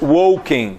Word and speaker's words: walking: please sorry walk walking walking L is silent L is silent so it's walking right good Sammy threadmill